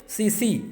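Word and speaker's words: tsetse: सीसी की spelling T इसमें silent होगा, सीसी इस तरह लिखा जाता है, ठीक है।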